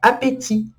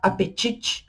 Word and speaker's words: appétit: Depois a gente tem a palavra appétit. Appétit também tem um T no final, mas a gente não pronuncia ele. Se fosse no português do Brasil, a gente teria a tendência de falar apetite, apetite, igual é no